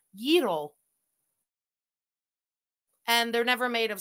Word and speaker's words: gyro: Most people say gyros. She did say it right. People corrected her and she listened to them. It's gyros. She's really saying exaggerated, but yes, it's not a gyro. It's a gyro.